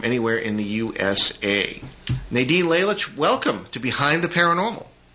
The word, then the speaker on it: Lalich: Nadine Lalich, welcome to Behind the Paranormal.